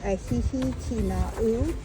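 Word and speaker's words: ʻĀhihi-Kīnaʻu: And how did you pronounce it again? Okay, ahihi kina'u.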